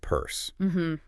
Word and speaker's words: Peirce: And remember, it's pronounced purse.